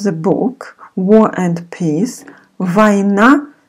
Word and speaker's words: Война: We pronounce instead of O, A. Война и мир.